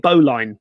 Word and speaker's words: bowline: It's spelled bowline, but it's pronounced bowline. It's a bowline.